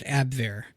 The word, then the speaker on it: Abwehr: I guess that would be pronounced Abwehr.